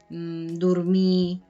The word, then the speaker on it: dormir: También en el catalán oriental, normalmente las R's al final de palabra no suenan, normalmente. Hay palabras, por ejemplo, mar, pues que sí, pero normalmente cuando son sobre todo verbos, ¿no? Fer, cantar, dormir, no se pronuncia la R al final.